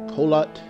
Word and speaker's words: Kholat: Okay, we are pronouncing it right. Kholat.